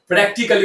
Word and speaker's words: practically: বেসিকলি Questions are basically আবার খেয়াল করুন, এই ওয়ার্ডটিকে আমরা প্র্যাকটিক্যালি বলে থাকি। এর সঠিক উচ্চারণ হবে প্র্যাকটিক্যালি।